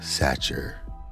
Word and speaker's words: Satcher: by Cassandra O Sullivan satcher H rhymes with Thatcher but Cuts Like A